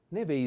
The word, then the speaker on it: neve: on the accent e the first e neve is a female noun and never means no pay attention to this pronunciation v ways like venezia venice v maybe we can